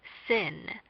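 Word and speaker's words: שׂין: English next thin thin when the dot is on the left it is pronounced sin the sound of this consonant is like the English letter s next towel towel towel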